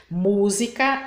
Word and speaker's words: música: forte da palavra agora quando a sílaba tônica é a anti penúltima a palavra é proparoxítona e é sempre acentuada Então as proparoxítonas tem sempre acento Então vamos ver lá Música acústico médico agrônomo público